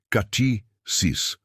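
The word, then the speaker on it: κτίσις: Para aprofundarmos neste conceito, podemos olhar para a palavra grega usada no Novo Testamento para criação, que é katisis, se pronuncia katisis.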